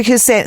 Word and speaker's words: Hussein: your listeners as well thank you now Dr husin am I pronouncing your name correctly first of all hin